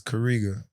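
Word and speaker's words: Karega: wasn't too crazy um my first name is kariga spell it k-a-r-e-g-a what i'm saying in this african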